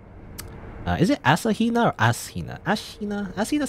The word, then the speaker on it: Ashina: you could say ashina i guess ashina not asina as ashina is how you're supposed to say i believe i guess